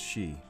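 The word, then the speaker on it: sidhe: country the tuha became known as the seal pronounced she and fairies and though there no longer ruled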